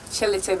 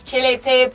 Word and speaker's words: Chilete: Is it Chelite or T Chelite? It's chili. I don't know, but the T is silent though. Oh. It's like Django and the. Oh, Yeah. Django. So this is Chilete by Davido featuring Mafiki Zolo.